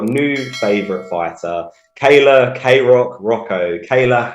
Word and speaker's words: Hracho: joined by your new favourite fighter, Kayla Kayrock Hracho. Kayla, how are you doing today? I'm doing great, and I love that you pronounced my name correctly.